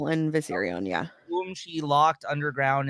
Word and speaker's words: Viserion: Regal is that how you say his name viserion yeah boom she locked underground in the mirror